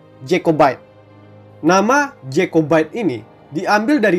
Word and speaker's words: Jacobite: simpatisan ini disebut sebagai kelompok jacobit atau dengan pengejaan bahasa Inggris yang benar jacobite nama jacobite ini diambil